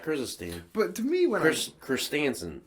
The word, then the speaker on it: Christensen: like uh black crystal stand but to me christinson christensen that's how you say it he was a